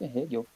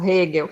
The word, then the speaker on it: Hegel: É assim que se pronuncia, Hegel. Isso, Hegel.